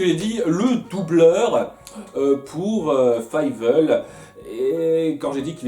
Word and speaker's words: Fievel: À nouveau, je dois toujours batailler pour me dire dans la tête, c'est Fievel et pas Fievel. Fievel. Toujours du mal à le prononcer comme ça.